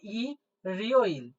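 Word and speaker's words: 일요일: নাই তাহলে এখানে হলো ই রিও ইল ই রিও যখনই দেখতে পাচ্ছেন ইয়ং আছে তখনই আপনি নিচেরটাকে আর উচ্চারণ করবেন না সাইলেন্ট রেখে দেন তাহলে আমি দেখেন ইল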